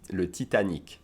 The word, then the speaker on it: le Titanic: And so, yeah, by the way, we pronounce the Titanic, we pronounce le Titanic.